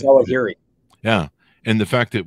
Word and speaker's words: Zawahiri: I can't pronounce his last name. It's Zawahiri.